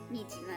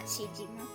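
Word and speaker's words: Niijima: Oh wait, Nijima, not Shijima.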